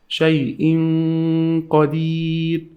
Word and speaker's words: شيء قدير: Shay'in qadir, shay'in qadir. And when I hide them, I add something called ghunna. I add the sound just right here. We call it ghunna.